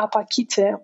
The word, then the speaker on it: Apachite: My name is a Romanian one, APACHITE would be the correct pronunciation, but since I am